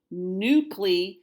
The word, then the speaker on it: nucle: sitting in your chair this word begins with new clean yes the C sounds like a K nu CLE and nucleotides anything that